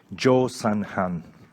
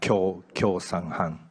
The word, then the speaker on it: Jo San-han: write it in katakana, Kyo San-han. So either way, whichever you prefer, but I was told to pronounce Jo San-han in English.